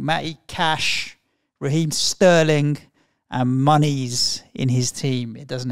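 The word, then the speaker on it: Muniz: And just for the record, James, his name's pronounced Monies.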